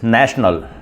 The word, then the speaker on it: national: The seventh word is national. N-A-T-I-O-N-A-L. National. And some people pronounce it national, not national, but national.